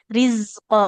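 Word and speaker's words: رِزْقًا: kalau zainya sebenarnya ketika berharokat Ibu sudah bisa, tapi ketika sukun jadi jim, jadi rizqo. Nah, rizqo ujung lidahnya ke ujung gigi seri yang bawah.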